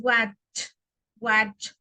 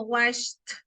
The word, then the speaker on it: watch: Y todo lo que es con la CH es cha, cha, cha, cha. Como que estamos diciendo ese sonido.